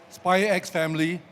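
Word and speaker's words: SPY×FAMILY: this uh animation called spy x family the x is silent actually seven volumes so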